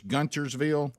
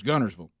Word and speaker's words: Guntersville: yeah so uh and then there's guntersville but it's gunnersville so i think what he's